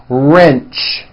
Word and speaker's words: wrench: ends of words detach teach porch march patch wrench notice the strong are sound at the beginning of that word wrench coach approach also with a strong are sound